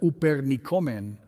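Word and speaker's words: ὑπερνικῶμεν: Él usa esta palabra griega que se pronuncia upernicomen.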